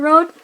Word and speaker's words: Rood: I think it's Staten-Generaal Rood? Staten-Generaal Rood? But yeah, I know rude is actually sounds more like road.